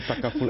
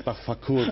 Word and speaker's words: takaful: We don't get people mispronouncing takaful as tafakul, for example.